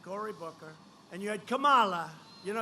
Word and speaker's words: Kamala: booker and you had kamala you know if you pronounce her name wrong she goes crazy come on like a comma it's like a comma she's like a comma